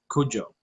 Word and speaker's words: Cudjoe: Cujo, because it's spelled Cudjoe, and it's also with a Mm-hmm, Kudjoe.